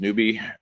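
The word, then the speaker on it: noob: The N-O-O-B is pronounced newbie. If I were to show my age, I would have spelled it out as N-E-W-B-I-E.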